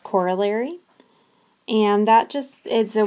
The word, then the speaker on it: corollary: The word at the top of the slide is pronounced corollary, and that just is a word for a theorem that's related to another theorem.